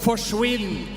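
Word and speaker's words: forsvinn: in Norway we have a word that's called forwin and it rhymes with Quinn so it basically means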